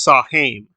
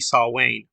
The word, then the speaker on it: Samhain: They use Samhain or Samhain. That's not how you say it. It's supposed to be Saul Wayne.